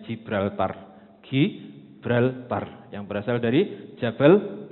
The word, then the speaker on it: Gibraltar: Gi atau Ji, kadang-kadang kita bacanya Gibraltar.